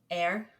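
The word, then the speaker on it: Eir: as an Norse goddess pronounce a as in hey and then append a tongue tip rolled R like the Spanish this is difficult for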